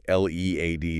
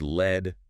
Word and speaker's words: lead: L E A D is another one. Yeah. Pronounced lead rhyming with need.